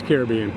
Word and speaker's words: Caribbean: I say Caribbean. Caribbean. It's Caribbean. Oh, there goes. Hello. Hello. So we have one night here, and then actually we're moving over to another resort. Caribbean Beach Resort is a moderate resort here at